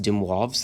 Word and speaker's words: de Moivre: it looks like it de moivre's this is pronounced demwave's theorem so de moivre's theorem literally says if